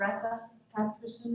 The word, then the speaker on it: Retha Person: My name is Retha Person is how it is pronounced.